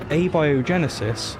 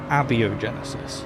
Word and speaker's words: abiogenesis: can't even pronounce abiogenesis it's abiogenesis not aviogenesis it's Leviosa thanks also